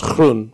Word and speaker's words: Groen: in Dutch it's pronounced kunun which is Dutch for green and it was very